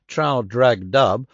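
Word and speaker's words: Traldragdubh: and my retinue to tr drag dub or Trill drug drib for it is pronounced both ways as near as I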